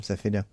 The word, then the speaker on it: Zafida: Or Zapida, how do you say her name? Zafida.